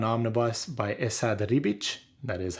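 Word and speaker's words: Esad Ribić: thor by jason aaron volume 1 omnibus by essa de ribich that is how you say that name there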